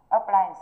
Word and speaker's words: appliance: Thì chỗ này trọng tâm rơi vào âm tiết P. Âm tiết thứ hai là apply. Được chưa? Apply. Rơi vào âm apply.